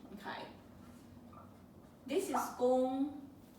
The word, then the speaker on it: 功: But in Chinese, it's a different pronunciation. Okay. This is gong, not kong.